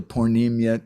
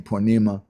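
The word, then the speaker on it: purnima: uh prabhuji is it the poor nim yet instead of saying ponemah or things like that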